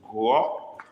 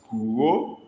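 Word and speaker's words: gụọ: I want to show you how a dot under an Igbo alphabet can change the sound of the word and change the meaning of the word. The first one we used was guo, with dot under U and dot under O. The second word is guo, guo, no dot under U, no dot under O, guo.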